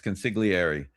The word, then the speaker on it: consigliere: Yes, consigliere.